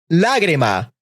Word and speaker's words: lágrima: Esdrújulas have an orthographic accent placed in the antepenultimate syllable or third from the end syllable.